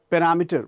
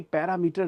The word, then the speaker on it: parameter: पैरामीटर, बहुत से लोग इसे बोलते हैं पैरामीटर. भाई पैरामीटर नहीं होता है, पैरामीटर.